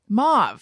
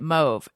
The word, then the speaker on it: mauve: do you pronounce it however you said it mauve that's how normal people pronounce it um yeah there's a lot of people who pronounce it move evidently i had no idea i don't even